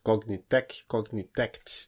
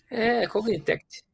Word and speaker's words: Cognitect: Cognitect. Então acho que tem um Tzinho no final. Cognitect.